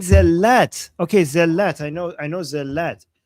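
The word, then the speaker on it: zellat: Zelat. I know. I know. Zelat. Okay. But the way you wrote it, it says it pronounced zat.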